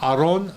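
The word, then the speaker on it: אָרוֹן: reduce up uh vowel so Aron a very brief I don't know and sounds like Aaron and what did Aaron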